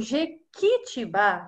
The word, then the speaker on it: jequitibá: Olha só, quando eu falo jequitibá, jequitibá, ó, que, eu não ouço o som do U. Parece que o U nem existe ali naquela sílaba.